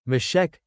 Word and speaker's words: Meshech: This suggests that the last remaining name, Meshech, has the same pronunciation as Moscow.